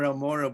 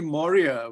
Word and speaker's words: Maurya: your name you know you often tend to mispronounce it because you know are amora but it's actually moria which is you know